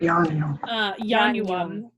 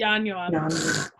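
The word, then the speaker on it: ianuam: Yeah, it's 3 syllables. Got it. Yanuam. It's gross. Hold on. Anyway. So many vowels. Yeah. Sorry. And it's like, well, the first one doesn't count and the middle one's short.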